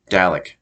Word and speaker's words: Dalek: to mention the word Dalek because um the way they say it in the show is Dalek thank you and so